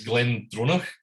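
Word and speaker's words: GlenDronach: with glendrona so it's glenn droner as one word but he changed the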